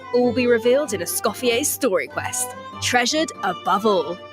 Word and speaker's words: Escoffier: is silent. It's Escoffier.